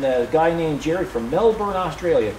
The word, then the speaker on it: Melbourne: on YouTube M YouTu Melbourne that's how they pronounce it Melbourne thanks to your other austral or uh Australian